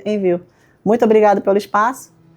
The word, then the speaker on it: Envu: Na dúvida a gente escreve, ó, envu, mas a gente pronuncia envio.